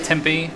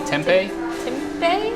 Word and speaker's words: tempeh: got it like a Tempe pattern how do you say that Tempe tempeh yeah tempeh patty in there